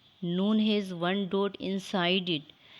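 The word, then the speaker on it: نون: It is a light, nasal and long sound letter. It is pronounced by joining the rounded tip of the tongue with gums of the frontal 6 teeth.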